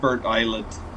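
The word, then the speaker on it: Burntisland: know those were there we soon arrive at Bert Island yeah it's pronounced Bert Island yeah there's there's actually NPCs walking along here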